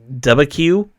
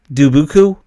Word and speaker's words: Dubuque: So, and what is it's the one I can't pronounce. It's Dubuque, Dubuque. Okay, that town. Yeah, Dubuque.